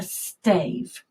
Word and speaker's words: stave: But we pronounce it stave. It's quite similar to some of the words you know, like gave. Sounds very similar, doesn't it?